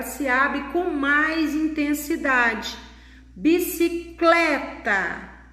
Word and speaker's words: bicicleta: Bicicleta. Aí vocês podem notar que não existe acento, mas nem por isso nós não podemos deixar de perceber que ela também contém uma sílaba tônica, uma sílaba forte. Bicicleta. Então, a sílaba aqui, tônica, é clé.